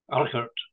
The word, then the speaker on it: Urquhart: Okay, so this is part two of our interview with Ken Urquhart. How do you say it properly in Scottish again? Alkert.